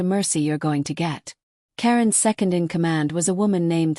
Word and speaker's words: Caeryn: The Duskborn were vampires, old ones, led by a creature who called himself Caeryn Ashveil, pronounced like Cairn, a vampire who had